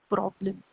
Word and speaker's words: Problem: Then we have one more word that is problem. And problem in German is also the spelling is same, but the pronunciation will be Problem. Problem is problem.